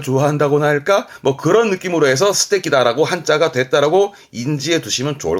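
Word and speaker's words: 素敵だ: 적 발음은 테키. 그래서 이게 스테키입니다. 이게 스테키다, 멋지다 하는 그 스테키다가 이 한자입니다.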